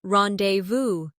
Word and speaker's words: rendezvous: For example, the word rendezvous comes from French and is pronounced rendezvous or tsunami, which is from Japanese.